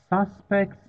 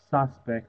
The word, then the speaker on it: suspect: this word you know as a noun it is suspect suspect as a verb it is pronounced suspect so suspect is a